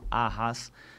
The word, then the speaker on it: Arraz: presente no Instagram pahas que é o meu sobrenome né vou ficar meu Deus isso do jeito que se pronuncia tá gente r a n.